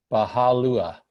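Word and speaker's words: Bahá'u'lláh: you space ll aah Baja Lua sounds like that Disney thing Baloo anyway so he's unknowable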